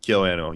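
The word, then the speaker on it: KyoAni: KyoAnno, yeah.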